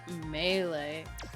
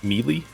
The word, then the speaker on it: Melee: Yeah, fun fact, for the longest time, I pronounced Melee as Melee. That's... I got to college and they were like, stop saying that. I'm like, what? Melee. I'm like, fine. I'll say Melee.